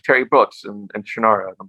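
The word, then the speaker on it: Shannara: the shanara series and you say it like I say it shanara and when I started listening to audiobooks later the narrators always say shanur and it drove me crazy no I'm never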